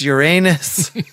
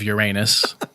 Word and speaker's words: Uranus: He said, "Oh, Mommy, I love you past the moon, past Jupiter, past Uranus." Well, that's good. He didn't say, like, "I love Uranus, Mommy."